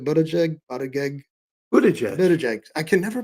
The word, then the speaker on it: Buttigieg: I always want to call it something like really kind of disgusting, but again, it's Buttigieg. I can never pronounce his name.